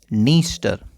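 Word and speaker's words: Dniester: इसका नाम है नीस्टर। डी साइलेंट रहता है।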